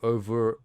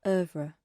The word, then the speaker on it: oeuvre: I am not familiar with her oeuvre.